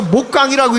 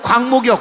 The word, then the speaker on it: 광목: 그러니까 목강이라고 읽지 말고 광목이요, 광목.